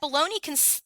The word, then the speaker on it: bologna: What's especially interesting is that bologna contains a silent G, just like the silent K in knock or night, Robert went on.